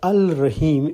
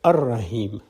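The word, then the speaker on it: الرحيم: add allah to rahim the al-rahim is pronounced as ar-rahim the l goes silent so if allah the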